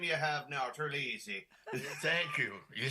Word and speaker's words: Terlizzi: By the way, 'tis a fine Irish name you have now, Terlizzi.